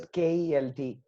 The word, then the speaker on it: Kjelt: So it's Oh, just Kelt. Uh, so it's just how it's pronounced, no you know?